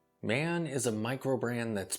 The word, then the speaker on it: Maen: My understanding is the brand name is pronounced like man, but with a slight E in there.